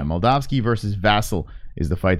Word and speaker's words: Moldavsky: Vassell all right so how do you say it Molotov ski Mel dog ski yeah Mel dog ski versus vassal is the